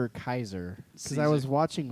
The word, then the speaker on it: Caesar: So- Caesar did something.